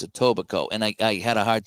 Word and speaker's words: Etobicoke: Etobicoke. It's spelled. It looks like Toby Coke, but it's Etobicoke, and I had a hard time saying that.